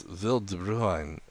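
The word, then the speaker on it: Wil de Bruin: Bruheim. So it's Vil de Bruin. And that's not perfect, but it's a whole lot better than Bruin, like I Interesting.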